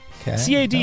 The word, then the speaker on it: Cade: C-A-D-E.